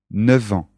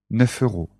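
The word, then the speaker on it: neuf: 9 heures 9 euros attention à la prononciation 9 ans 9 heures 9 ans 9 heures avec les euros c'est différent 9 euros 9 euros 9 ans 9 heures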